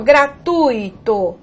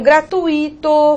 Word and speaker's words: gratuito: Há pessoas que pronunciam gratuito, fortuito, intuito, cuidado. Essas palavras não são hiato, né? Não tem pronúncia tônica do I, pelo contrário, elas são ditongo, e o ditongo aqui no caso mostra, o I é semivogal, ok?